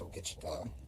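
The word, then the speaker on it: ogichidaa: It's pronounced Ogichita.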